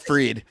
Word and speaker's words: Fried: freed fre we got looks like Fred sounds like freed I know I've become